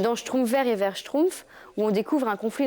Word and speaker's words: schtroumpf: Quand j'y pense maintenant dans le dans le mot schtroumpf, il y a une syllabe et h consonnes. Pourtant, ça n'a jamais posé de problème à personne pour le prononcer. Simplement schtroumpf.